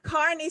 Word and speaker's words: Kearney: We would pronounce it Kearney Street Books. In America, maybe you say Kearney. Yeah. But it's an Irish name. So we would call it Kearney over here.